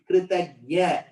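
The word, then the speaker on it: कृतज्ञ: Kritagnya, grateful. You know what is the word in Sanskritam for ungrateful? No. Very good. Kritagna. Just that pronunciation you have to be careful. Kritagnya is grateful. Kritagna is ungrateful.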